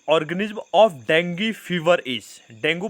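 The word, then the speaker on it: dengue: डेंगू बोलो या dinghy, English का प्रोनाउंसिएशन डेंगी बोला जाता है, हिंदी में इसको डेंगू बोला जाता है।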